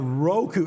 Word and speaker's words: Roku: Roku.